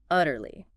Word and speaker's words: utterly: Utterly. Utterly. Utterly. 3 syllables. Stress on the first.